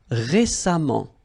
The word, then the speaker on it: récemment: So as I told you, even if you write it EMMENT, phonetically it goes like amant, patiemment. All right. Récent, same rule. Récemment, récemment, récemment.